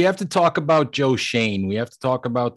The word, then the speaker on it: Schoen: everybody has to understand it is pronounced shane as far as i know am i correct i